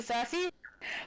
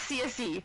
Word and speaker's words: Cersei: Just like and also um the way they pronounce Cersei in this game is not the correct pronunciation of Cersei for that character. I do understand that there's multiple pronunciations for Cersei. But I looked this one. It's Cersei, not CS.